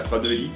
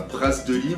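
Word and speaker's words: Praz de Lys: Et voilà, fin de cette première vidéo de ce premier jour de notre arrivée à Pradely. Pas Brasdely, on s'est déjà fait engueuler en plus sur ça.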